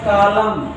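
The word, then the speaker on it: column: तो कॉलम, तो इसमें हम लोग क्या पढ़ते हैं, कॉलम, कॉलम केवल पढ़ेंगे, यन का उच्चारण नहीं करते, यानी यम के बाद हमेशा यन साइलेंट रहता है।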